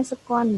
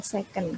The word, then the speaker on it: sekon: Bacanya sekon bukan second, karena kalau second nanti jadi kedua atau bekas gitu ya, jadi sekon.